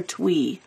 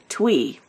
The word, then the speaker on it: Thuy: name is thuy it's th uy but it's pronounced three or twy twy and she says to us he's getting he's